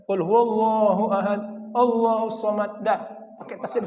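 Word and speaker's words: قل هو الله أحد: Jadi kalau bacanya Pak pakai tasdid Pak ya. Jangan kul huwallahu ahad, Allahus samad.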